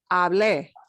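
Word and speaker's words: hablé: stress that accent mark we stress that last syllable okay so the hard thing to get used to is that it's hable i spoke or empty i began okay he began right not so getting used to that that punching that last syllable for first person singular and third person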